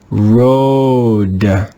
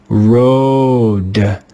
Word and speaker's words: road: read this word together road road road you can hear that the english letter a is silent in the digraph o a road here's another word with